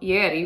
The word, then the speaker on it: Ieri: This shawl is called Ieri, which is spelled I-E-R-I, it's an Italian word.